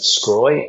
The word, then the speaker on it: Sgroi: Joseph Scroy.